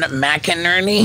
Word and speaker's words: McInerney: Sean McInerney? Yep. Sean, did I say it right? Yeah. Wow. Yeah, good job. Retention. It's like two names, Mac and Ernie.